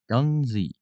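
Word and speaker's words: Guernsey: wait no Ury wait how do you pronounce that gunzi oh that's way more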